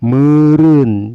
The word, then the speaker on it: meureun: E-nya teh dibanya teh jadi E, kayak MEUREUN, dibanya teh meren. Jadi huruf E sama sekali nggak ada nongol, nggak kebaca. Dibacanya tadi jadi meren. Nah, memang begitu. Jadi E kalau di depannya ada U, meren.